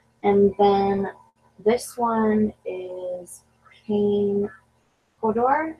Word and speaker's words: Kane Hodder: And then this one is Kane Hodor, or Hodder? Kane Hodder, I think.